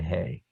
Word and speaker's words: he: The aleph and the ayin are silent, and the hey is just a soft h, so that's why they're over here. Aleph and ayin and hey.